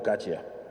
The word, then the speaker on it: Kac: artículo de eduardo kac ya se escribe caxia a luego se pronuncia igual que yo digo eduardo caché el artículo trata sobre